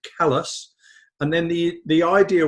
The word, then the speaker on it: Calais: to a place called calais named after calais in france although they pronounce it callus and then the the